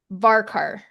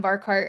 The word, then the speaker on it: varchar: Somebody asked how you pronounce Varkar.